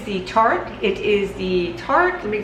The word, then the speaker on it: Tarte: It is the Tarte, let me say it correctly here, the Colored Clay CC Cream.